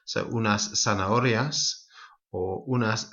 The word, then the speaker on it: zanahorias: Might also be worth mentioning at this point that Z in Latin America and in the south of Spain is pronounced more as a S. So unas zanahorias or unas cerezas.